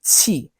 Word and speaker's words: qi: The correct Chinese pronunciation is qi. It is the Q sound, I know, is fucky in Chinese, but it's like try to find like a middle ground between like the TS, like tss, and tsunami or tsundere.